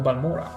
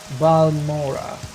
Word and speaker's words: Balmora: We're gonna go back to Balmora. Balmora. I refuse to call it Balmora, even if it's the allegedly right pronunciation, because Vivek pronounces it Balmora in the Morrowind expansion of the Elder Scrolls Online.